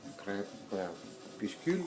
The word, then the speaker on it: Crépuscule: This is the box set that came out on Le Disque de Crépuscule. Crépuscule, yeah, that's the correct pronunciation.